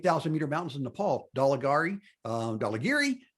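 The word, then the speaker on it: Dhaulagiri: meter mountains in nepal daligari um dolla geary you already get dinged for not saying it right dolla geary uh michaelou and of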